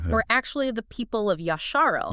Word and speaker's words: Yasharel: actually the people of Yasharel. Yasharel, meaning Israel. Yes, that's Noel's preferred term, emphasizing what he believes is the original Hebrew pronunciation.